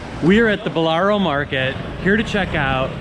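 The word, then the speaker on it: Ballarò: I want to say I called it Ballaro, and I was corrected that it's Ballaro. Ballaro, going down on the O, Ballaro.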